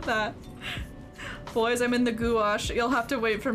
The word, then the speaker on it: gouache: what i'm talking about gouache gouache yeah just like wash wash yeah well i'm glad